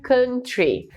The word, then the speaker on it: country: Mas a pronúncia correta tá direitinho aí na Haeyoung, que é country, é o som de Então pode repetir aí do outro lado, country.